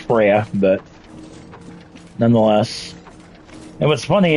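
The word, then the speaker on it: Freja: Actually, it's pronounced Freya, but nonetheless.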